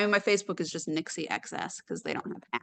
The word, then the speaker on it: Nixi: It is not pronounced Nikki. It is Nixi. Nixi like Pixie.